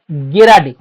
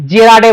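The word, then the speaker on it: gerade: গেরাডি। ঠিক আছে? যেটা জার্মান টার্ম। জার্মান না রাশিয়ানটা ভুলে গেছি গেরাডে ঠিক আছে অনেকে জেরাডে বলে অনেকে গিডে বলে আসল উচ্চারণটা গেরাডে আর উন গেরাডে ঠিক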